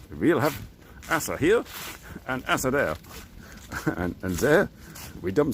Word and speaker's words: Asse: we going to Assa it's AWS e H they pronounce the E uh here in in Belgium so it's Asa oh what I need